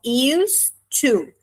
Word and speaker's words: used to: E a gente vai usar a mesma estrutura do used to, até na pronúncia a gente tem a mesma conexão do D com o T, uma coisa só, used to.